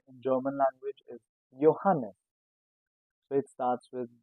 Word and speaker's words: Johannes: These two names start with J but is pronounced as Y.